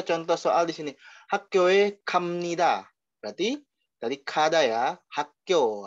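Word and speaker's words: 갑니다: Tapi dibacanya bukan kap nida, ya. Ingat kalau ini dibacanya yaitu kam nida, am nida ya. Jadi dia B tapi tulisannya B tapi dibacanya amnida. Hakyoe gamnida.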